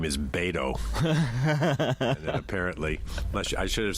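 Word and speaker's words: Beto: your first name is bado apparently much I should have said it unless your first name rhymes with Plato Plato not Plato Plato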